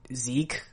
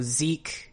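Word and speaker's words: Sieg: be jig or zeke so zeke is the german word for victory and the thing is the reason why it could be either is because japanese does not allow for the syllable z it has zi and it has zap but it doesn't have z at all just like it doesn't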